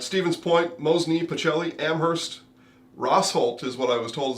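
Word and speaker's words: Rosholt: you'll read about Stevens Point mosy pachelli Amherst rosol is what I was told is the correct pronunciation there I and Iola yeah it's a family name rosol but everybody else says rold yeah because people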